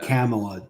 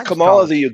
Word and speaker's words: Kamala: he tips over pamela camelot don't mispronounce that racist it's kamala like the leftists don't even